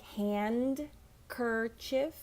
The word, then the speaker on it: handkerchief: a good one because it looks like hand kerchief but the D is silent so handkerchief my handkerchief